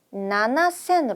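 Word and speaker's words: 七千: 요것도 주의해야 할 포인트입니다 그러니까 7천 같은 경우에도 시센이라고 읽으시면 안 되고요 나나센 가셔야 합니다 나나센 다생 큐센 그리고 몇천 난생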